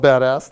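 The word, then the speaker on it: BDAS: stack it's the acronym is be das it's pronounced called badass thank you I'm glad you said it not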